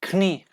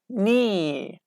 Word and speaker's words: knee: students pronounced it like kni. Kni is false. It's wrong. Okay, just ni, not, neat, need, kneel, night, no, knowledge, like this, okay?